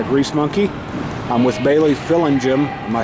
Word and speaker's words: Fillingim: I'm with Bailey Fillingim. Am I saying it right? Fillingim. Gim, okay. Well, my wife's a kindergarten teacher, so I have to get the hard G down in there.